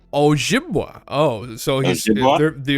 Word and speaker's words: Ojibwa: Oh, How is that pronounced? Ojibwa.